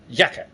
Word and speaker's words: Jacke: word for jacket is yaka J is pronounced with a Y sound and so it's spelled